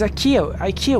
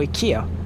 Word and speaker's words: IKEA: It was IKEA wasn't it? Or IKEA, as it's supposed to be pronounced.